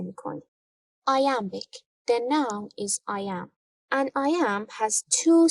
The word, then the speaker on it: iamb: The noun is I am. An iamb has two syllables.